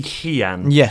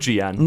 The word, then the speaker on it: Gian: came up to me and said it's actually Hian. So now I pronounce you Han. It is Hian. Well, I apologize. How professional of me, you know. Really? But I mean, do you mind Gian?